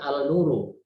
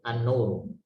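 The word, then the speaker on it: النور: dalam isim bertemu nun, bacanya tentunya bukan al-nuru, tapi an-nuru. An-nuru.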